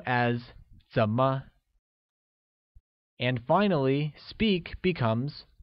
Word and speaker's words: 怎么: How translates as 怎么 and is pronounced with a falling rising tone.